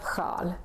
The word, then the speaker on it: sjal: In all these words, we can see the SJ combination, and that's why it's pronounced like sju, sjö, sjal.